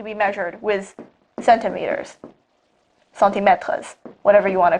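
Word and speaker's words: mètre: french and english and in french meter is spelled m-e-t-r-e metra so oh gosh it sounds a lot like the verb to put now that i think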